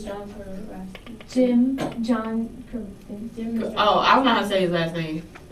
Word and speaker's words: Krasinski: character John Kranowski or Steve Carell? It's John Krasinski.